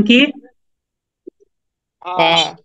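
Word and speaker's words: كاف: তারপরের হরফটা হচ্ছে ফা ফা এই হরফটার নাম কি ফা ফা ফা আচ্ছা মাশাল্লাহ তারপরের হরফটা হচ্ছে কফ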